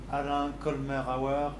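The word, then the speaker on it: Alain Colmerauer: Alain Colmer-Auer and Philippe Roussel. Okay, I have been pronouncing apparently Alain wrong before.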